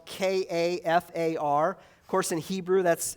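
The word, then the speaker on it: כפר: of Leviticus the Hebrew word for atonement is pronounced kafar in English it looks like it's spelled k a f a r of course in Hebrew that's entirely different lettering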